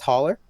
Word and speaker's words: Haller: We are being joined by Zach Haller. Is it pronounced Haller?